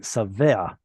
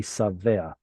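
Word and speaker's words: שָׂבֵעַ: It would have to be savea. Sova, savea is with a sin. Yes. Savea. Here you get a furtive patach because of the ayin, but that's just a pronunciation thing. Gutturals mess up vowels.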